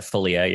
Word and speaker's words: Philia: dove eden seven memory philia is that right did i say that right we pronounce it felia yeah phillia and rainier